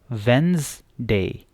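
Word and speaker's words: Wednesday: तो ये हमारे पास क्या बचा, वेन, और इधर हम जेड, वेंसडे, वेंसडे। तो ये इसकी सही प्रोनाउंसिएशन है, ठीक है।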